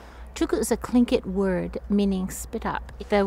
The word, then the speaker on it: Tlingit: That's the meaning of Chilkoot and it's pronounced Tlingit.